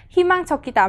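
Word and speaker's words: 희망적이다: Himang chokita, mình nhớ nối âm lên. Chỗ này mình sẽ không đọc là chokita mà mình sẽ đọc như thế nào? Chokita.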